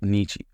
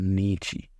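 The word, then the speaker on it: 日: For now, you're only going to have to learn one of the readings, and that is Nichi. I think I tried to use he before, which is why I think I got this wrong.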